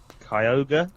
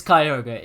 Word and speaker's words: Kyogre: i always liked i don't know how to pronounce kyogre kyogre yeah yeah the big whale mother oh